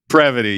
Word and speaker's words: Prevoty: Prevoty, yes, Prevoty.